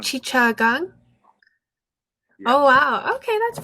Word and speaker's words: Chittagong: How do you pronounce that? Chittagong. Chichagang?